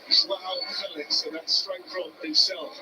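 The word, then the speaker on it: João Félix: It's just on the pronunciation. That's the way he wants it said. Joao Felix, and that's straight from himself before there's the social Come media.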